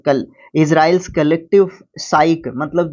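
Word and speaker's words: psyche: आप उसको नहीं फिजिक, साइक, हाँ साइक प्रोनाउंस करेंगे इसको।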